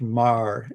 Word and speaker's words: Meagher: But there's a guy, Robert Marr, Meagher. Yes, that's spelled Marr, pronounced Marr, Irish name.